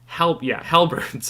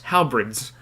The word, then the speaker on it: halberds: Halberds. I was mispronouncing it. Halberds.